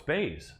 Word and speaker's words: Buys: against the wall, and as his name looks like it's spelled, buys, I think he buys himself an additional UFC contract with the win here, even though his name is Bays, but it's spelled like buys.